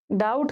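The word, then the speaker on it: doubt: डाउट clear हुआ नहीं। डाउट का स्पेलिंग ये थोड़ी होता है। डी ओ यू बी टी होता है। ओके? डाउट में बी साइलेंट होता है।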